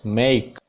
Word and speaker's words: make: Third word is मेक, MAKE, it will be pronounced as मेक, this not मेक, सीधा ए sound नहीं है, ए sound glide होके ई sound की तरफ जाएगी, डिफ्थोंग आप यूज करोगे।